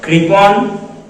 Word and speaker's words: কৃপণ: নিচে চলে আসি দেখুন এগুলিতে কিন্তু তারকা চিহ্ন নেই অর্থাৎ এখানে অকারান্ত উচ্চারণ হবে না এবং এটা যেন বাচ্চারা